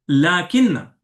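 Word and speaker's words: لٰكِنَّ: अच्छा, इसी तरह अगला है लाकिन्ना। लाकिन्ना, अच्छा इसके स्पेलिंग को आपको गौर करना है।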